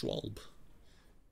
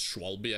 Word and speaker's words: Schwalbe: I think it was I don't think you pronounce the e at the end I don't think it's Schwalbe I think it's just